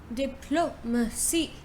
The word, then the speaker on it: diplomacy: You say diplomacy, diplomacy. So you say di first, yeah, diplomacy, diplomacy, diplomacy, diplomacy, right?